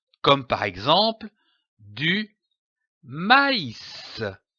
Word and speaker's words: maïs: cet accent très m'as indique que la voyelle qui précède doit être prononcée séparément comme par exemple du maïs maïs je lis un mot